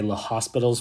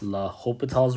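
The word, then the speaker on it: L'Hôpital: that additional s uh people like to say the hospital's rule but it's really not it's la hopital's rule and it was only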